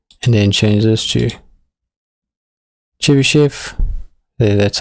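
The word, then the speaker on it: Chebychev: to smooth F1 and then change this to Chi shf that's how you say it and what you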